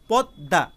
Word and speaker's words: পদ্মা: বর্ণটি গঠিত হয়েছে, কিন্তু উচ্চারণের সময় শুধুমাত্র দ উচ্চারিত হয়েছে, আর ময়ের পরিবর্তে আরেকটা দ উচ্চারিত হয়েছে।